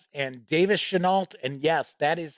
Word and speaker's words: Chenault: be honest I was going to interview Stephen Chenault and Davis Chenault and yes that is how their names are pronounced because I thought it was should know but is Chenault I had it all set up uh last